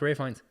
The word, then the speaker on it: Ralph Fiennes: His name It's His name's actually pronounced Ralph Fiennes. I thought it was Ralph Fiennes all the way.